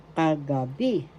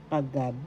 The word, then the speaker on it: kagabi: night gabi means night first syllable ka second syllable ka third syllable b the accent is in the third syllable kagabi kagabi B that means last night.